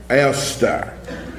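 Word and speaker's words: Eostre: And I gave you the original pronunciation. Esther.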